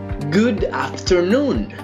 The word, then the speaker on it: afternoon: Good afternoon. Good afternoon. Importante, el acento lo tenemos en noon, no en after.